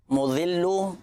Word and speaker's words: مذل: 2 صفاتی نام ہیں، یا مذل یا معز۔ مذل، اور پہلا جو صفاتی نام اس میں ذال